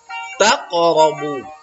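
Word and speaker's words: تَقْرَبُوا: Karena huruf qaf berharokat sukun. Sukun itu mati. Jadi membacanya taqrabu. Taqrabu. Ya, tidak boleh taqrabu. Nah, kalau dia di akhir, qafnya baru dia kuat. Kalau ini di tengah ya, maka dia kecil saja.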